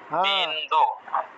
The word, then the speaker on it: বিন্দু: বলেন 31 নম্বর বিনদু বিনদু very good very good প্রথমটা বিনোদু কেন বিনোদু হলো দন্তন নিচে হসন্ত নেই এজন্য এজন্য হ্যাঁ দন্তন নিচে হসন্ত নেই সেজন্য আমরা প্রত্যেকটা অক্ষরকে পূর্ণ উচ্চারণ করব।